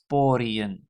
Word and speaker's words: pori: skin, and plural is poriën. So again, the emphasis is on the first syllable, so that is pori, and that means no